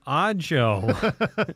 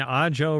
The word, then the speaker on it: Ajo: of town if they're like oh I'm on odd Jo Road where the hell are you I'm on the i-19 in a Jo Road a Jo Road yeah that one's if